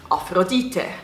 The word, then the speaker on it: Aphrodite: use aphrodite is because in german you pronounce aphrodite afrodite and i hate hate